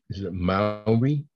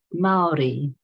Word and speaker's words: Māori: in a way and very important to the Mallory is that the correct pronunciation uh Maori it is more than a Maori so yeah